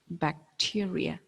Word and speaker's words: bacteria: in sit huh so when i combine these sounds together like this this is bacteria clear that's the right pronunciation bacteria i hope it's written down